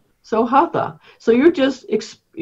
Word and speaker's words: Hatha: In Sanskrit, it's a ta rather than a th. Okay. Yeah. It's an aspirated T.